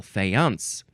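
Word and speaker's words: faience: is F fance uh or actually fance you emphasize the second syllable fance you could also say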